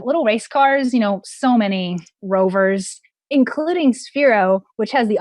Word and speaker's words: RVR: We have little race cars, so many rovers, including Sphero, which has the option to integrate a microbit within their platform, their new rover platform. And that's RVR, but it's pronounced rover.